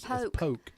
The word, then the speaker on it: Polk: It's Polk. Polk County. Polk County. Polk County. You can't, we can tell you, if you say that wrong, we know you ain't from here. Mm-hmm. Polk County. Got to say it right.